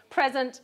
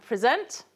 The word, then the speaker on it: present: And we know that there are a small number of stress minimal pairs in English, so present and present.